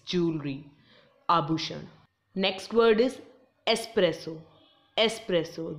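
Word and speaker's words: espresso: आभूषण next word is एस्प्रेसो एस्प्रेसो there is नो एक्स so don't pronounce it एज एक्सप्रेसो यह एक type of टी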